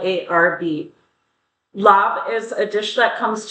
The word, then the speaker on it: Laab: What we have for you today is a dish referred to as Lob, L A B, or in some areas it's pronounced Larv, L A RB. Lob is a dish that comes to us from Southeast Asia, primarily Laos and Thailand.